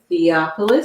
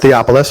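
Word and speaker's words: Theophilus: realization of why this person how do you pronounce the same theopolis theopolis okay because you don't understand how many times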